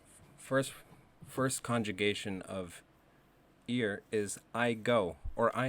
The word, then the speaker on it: ir: we're learning today it's that word is ear spelled or IR repeat after me ear n ear as a